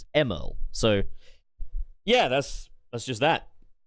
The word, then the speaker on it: Emerl: So, like, you know, people called me out for pronouncing Emerl as Emerl, like the character from Sonic Battle. Some people are like, no, it's pronounced Emerald. But it doesn't, it's not spelt that way.